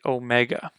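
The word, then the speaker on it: ω: lastly we have the Omega now in reconstructed coin a the Omega makes the exact same sound as the Omicron the phonetic is the same just o Omega o starting at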